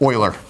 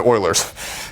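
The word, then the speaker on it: Euler: And I'm going to write it here like this, like oiler. The old Houston Oilers. Okay. So it's e u l e r pronounced oiler.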